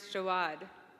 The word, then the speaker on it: Jaouad: hers is a wad and mine is jawad that's j a o u a d cancer's scary but there's